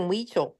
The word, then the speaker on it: Huichol: Maggie, how are you spelling Weechel?